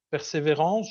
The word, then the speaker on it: Persévérance: En février dernier, il y a eu l'arrivée sur Mars du rover Persévérance, je le prononce à la française, qui constitue une étape importante dans l'exploration de la planète Mars.